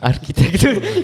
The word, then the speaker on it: Architectura: Normalement, ça se dit dans toutes les langues, avec tous les accents.